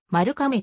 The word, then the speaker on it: 丸亀: を図っている日本国外における読み方はマルカメとしており丸亀としなかったのはゲームと読まれる可能性があるためと英語圏の人にとって読みづらいという理由によるものまた米国